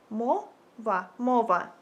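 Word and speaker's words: мова: language in Ukrainian you would say it like Mo MOA and yeah guys thank you so much for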